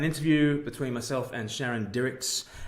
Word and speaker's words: Dirckx: between myself and Sharon Dirckx, and Dirckx rhymes with lyrics.